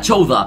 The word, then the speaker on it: Chowder: que se llama Chowder, pero se pronuncia Chowda.